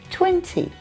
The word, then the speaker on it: twenty: 20. No, the T in the middle. 20. 20. If I'm speaking very carefully, I'll pronounce that middle T sound. But normally, I drop it.